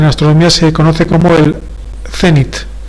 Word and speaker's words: cenit: Cenit, que creo que la Real Academia lo admite con C y con Z, y además acentuándolo en la última sílaba, bueno, en la penúltima. Yo por costumbre lo voy a llamar cenit, aunque también creo que se admite cenit.